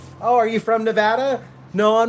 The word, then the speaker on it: Nevada: They like nobody knows how to say Nevada. They're like Nevada Nevada. Nevada. Everybody from Nevada is just like, "No, it's Nevada. Say it right. It's Nevada."